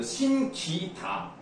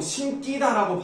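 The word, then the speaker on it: 신기다: 그런 사동 전미사가 들어가는 경우에는 덴소를 읽지 않아요 신기 다 이렇게 발음하는게 맞아요 자 근데 지금 잠깐 다른 얘기를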